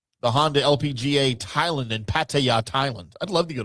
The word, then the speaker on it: Pattaya: I would love to go to Pattaya though. You won't come back. You won't come back. Pretty sure I will. It's called Pattaya. No, it's Pattaya. How they say it over there?